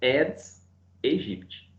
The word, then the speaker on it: Aedes aegypti: não não é certo lá aedes aegypti é és egypt é porque não pronuncio a é só oi o